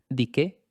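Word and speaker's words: dike: La palabra griega para justicia es dique, d i k e pronunciado con una e larga.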